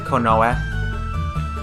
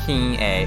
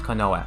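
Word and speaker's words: 近衛: um watch out for this word this is pronounced konoa it's um refers to uh like a guards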